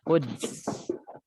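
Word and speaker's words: القدس: Nah, ini dal ya matinya. Dal disukun maka kita bacanya Quds.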